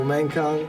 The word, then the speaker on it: Mankong: right, so 3, 2, 1, and we're live with Michael Mankong. I don't know if I pronounced that right, but that's correct.